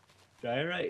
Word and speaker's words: diorite: I'm 100% sure I'm not pronouncing it right, too. Diorite?